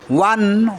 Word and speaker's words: one: Dash ওয়ান eyed deer, ওয়ান এখানে ও vowel কিন্তু vowel থাকা সত্ত্বেও এখানে অ্যান বসছে না, কারণ ওয়ান ও এর উচ্চারণ এখানে ওয়ার মতো হচ্ছে, যেখানে ও এর উচ্চারণ ওয়ার মতো হবে তার আগে এ বসবে, অ্যান বসবে না।